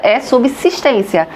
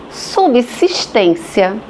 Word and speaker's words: subsistência: Subsistência é só subsistência, mas a língua é viva. Os falantes, cada vez mais falando subsistência, a ponto de o estranhamento ser total, de quase ninguém falar subsistência. E então o vocabulário incorporou a forma subsistência.